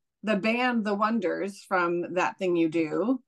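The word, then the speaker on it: Oneders: And I remember, didn't The Wonders spell it the word one, ders? One. They were being yes. The Oneaters. Oneaters. Yes. No. One. Wonders.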